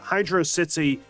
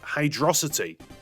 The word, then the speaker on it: Hydrocity: Pronounced as one single word, you end up with Hydrocity, which actually serves as a clever portmanteau, combining hydro and velocity together.